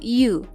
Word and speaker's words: you: sebagai objek adalah you cara membacanya you ia bahasa Inggrisnya kamu sebagai subjek dan objek itu memang sama yaitu iu Terus apa bedanya perbedaannya